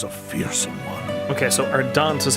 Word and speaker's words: Ardent: Okay, so Ardent is how you pronounce that.